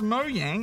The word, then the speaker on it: Mojang: says we're noobs for pronouncing Mojang as "Mo-yang", which is obviously correct. Ah. We've already dealt with that before, Bajo, and I've found that both pronunciations were acceptable. I know, but apparently the boss of Mojang even confirmed it's not "Mo-yang" at E3.